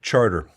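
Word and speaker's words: Chartres: To those of you watching from France who just heard me say charter, it's not me mispronouncing shot. It's uh how they do it in New Orleans. Charter. They don't say sh.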